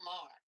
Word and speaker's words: Maher: Maher? Saying that he's a racist. Bill Maher.